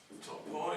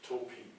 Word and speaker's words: topoi: Some people say toposes, and other people say topoi. And I was being told by a native speaker, Greek native speaker, that the modern pronunciation would be topi. We would write it this way, but you would not pronounce it topoi, which sounds very ancient to a Greek person.